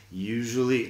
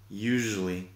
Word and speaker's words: usually: Fíjate en la pronunciación de usually, tiene ahí, usually, no es usually, por ejemplo. Usually, con este sonido exótico de y claro, se puede usar